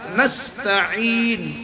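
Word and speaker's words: نستعين: ইয়াকা না'বুদু ওয়া ইয়াকা নাস্তাঈন নাস্তাঈন এর মধ্যে আইন আছে গলা চিবিয়ে কণ্ঠের মাঝখান দিয়ে উচ্চারণ করতে হবে ইহদিনাস অনেকে বলি ইহদিনাস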